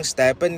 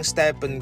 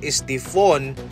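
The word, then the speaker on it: Stephen: Hindi po maganda ang history ng isang Stepen Curry sa Nike pagkatapos na ma-mispronounce ang kaniyang pangalan sa Stephone Curry at tinawag pa siyang set nito.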